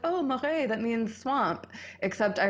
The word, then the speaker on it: Marais: Marais, like swamp, M-A-R-A.